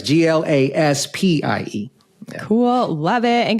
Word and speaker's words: Glaspie: And it's Glaspie with IE, not Y. Yes. People often don't know how to pronounce it or spell it once I say it. So that's right. It's Glaspie.